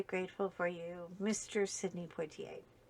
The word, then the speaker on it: Poitier: Sidney Poitier. Poitier. Let me pronounce it properly.